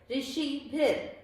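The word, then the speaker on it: ऋषिभिः: र के नीचे हलंत यानी र आधा है। ऋषिभिर, ठीक है।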